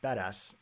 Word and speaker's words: BDAS: the berkeley data analytics stack pronounced badass bdas which was a platform